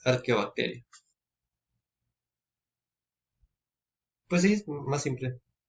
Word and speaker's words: Archaeobacteria: Se escribe Archaeobacteria, pero como las especies están escritas, la H se pronuncia como una K, es Archaeobacteria.